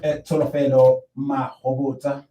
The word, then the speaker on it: Tsholofelo Mahobotsha: Yeah, we will be continuing with Tsholofelo Mahobotsha. Yes, you pronounced it perfectly well.